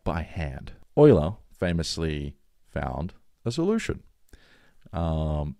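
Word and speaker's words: Euler: we going to do and then of course Oiler the one and only Oiler everyone pronounces it Yola e l e uh the famous mathematician the goat right everyone it's it's Oiler he actually found a um so I should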